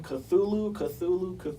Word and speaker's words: Cthulhu: Please So- stream our album Cthulhu. That's how you Cthulhu. say it.